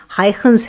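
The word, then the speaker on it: Huygens: नाम Christian हाइगेंस था अब उनके नाम का सही उच्चारण हाइंस है लेकिन हम इसे आसान तरीके से हाइगेंस कहेंगे तो उन्होंने प्रस्तावित किया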